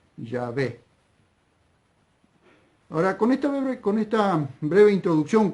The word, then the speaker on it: Yahvé: Pero creo, por lo que vengo leyendo, vengo estudiando y vengo viendo, que lo más cercano para pronunciar esas 4 consonantes hebreas, Yod, Hei, Bab, Hei, es Yahvé.